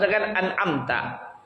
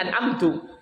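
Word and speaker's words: أَنْعَمْتَ: ini bisa merubah makna Contohnya apa seus anamta dibacanya anamtu atau dibacanya anamti ini bisa merusak Ana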